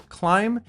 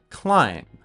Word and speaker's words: climb: First, the pronunciation for climb is without the letter B. Climb.